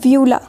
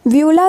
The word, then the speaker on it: uvula: और स्ट्रक्चर होता है, इसको हम कहते हैं व्यूला, ठीक है।